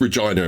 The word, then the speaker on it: Regina: I believe it's Regina, and the joke is that it's pronounced Regina and it rhymes with pussy.